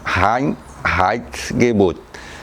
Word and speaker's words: Reinheitsgebot: Então, basicamente, pessoal, quando se fala em Reinheitsgebot, palavrinha aí bem complicada, né, da gente pronunciar, então não esqueçam, Reinheitsgebot, são três palavras, né, Rein, limpo, Heitz, eza, e Gebot, mandamento, certo?